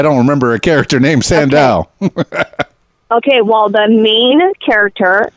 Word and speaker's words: Sandahl: Germany world twenty20 including your amazing podcast fabulous all right Sandow I'm trying to pronounce it properly Sandow you got it you got it right there